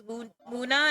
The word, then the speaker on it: Muna: So, if you guys don't know why my name is Muna and it's spelled like, It's because I combined my three favorite things: the moon, cow moo, and then my old name Luna.